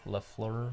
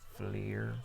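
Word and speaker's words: Fliehr: Like it's Flair. Oh. Wow. That's her real name. Oh, Ashley LaFleur. Yeah, but it's just Flair. Like, there's no La, just Flair. But it's spelled different.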